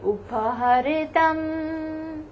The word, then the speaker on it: उपहृतम्: You can pronounce this as upaha, uphar ka upaha, ritam. This is this chota e ki matra on ra.